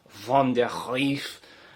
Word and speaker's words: van der Griff: don't know maybe because my last name is van der griff or like it should be pronounced like van der grief yeah so maybe it's